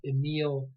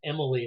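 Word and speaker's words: Émile: mistake the other functionalist who's pronounced Emile Durkheim you might hear pronounced Emily like he's a woman or something and I don't want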